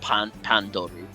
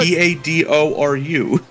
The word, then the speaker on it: Padoru: I thought I pronounced it correctly. Hadoru. I heard Pandoru. There's an N in there. No, there it's isn't. Pandoru. Oh, Padoru.